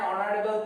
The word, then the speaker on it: honorable: So silent H. So remember we also put an before the word that begins with silent H.